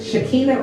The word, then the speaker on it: Shekinah: Shekinah or Sakina? Shekinah. Shekinah. So I said it right the first time.